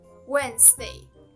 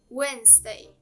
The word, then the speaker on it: Wednesday: The correct pronunciation is Wednesday. Wednesday.